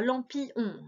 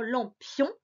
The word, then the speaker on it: lampion: Donc comme dans lampion, il ne faut pas dire lampillon, c'est vraiment lampion.